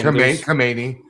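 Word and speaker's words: Khamenei: Came, how do we pronounce his name? Kamani.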